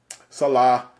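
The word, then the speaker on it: Saleh: When we first started the Ozone, internally, I would laugh how you pronounce his name. It's Robert Salah. Salah. So Mr. Salah.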